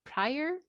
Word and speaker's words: Pryor: Then we have Paul Pryor. Is it the right way to pronounce his surname, Pryor? Yes, that's exactly it.